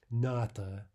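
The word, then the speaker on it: НАТО: from the English and it's pronounced as though it were a word right so in this case we don't call out the name of each letter we just simply say not not similarly the organ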